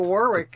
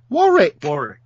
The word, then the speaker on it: Warwick: Well, how do you say it? Warwick. Warwick. Anyway, I have my ancestors came from Warwick.